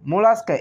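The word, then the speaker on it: Mollusca: মোলাস্কা, 8 নম্বরে, মোলাস্কা, MOLLUS, মোলাস, CA, মোলাস্কা।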